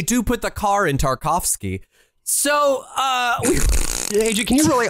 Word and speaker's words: Tarkovsky: me here okay yeah so the word tarkovsky yes the name tarkovsky sure contains the syllable car right no I got I got that can you explain that no actually I don't got that that does not occur in that name you've got tar and cough you got them